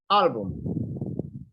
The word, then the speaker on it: album: For example, in the first one, album. Yes, the stress is in the first A. Album. Album. Higher, then goes down.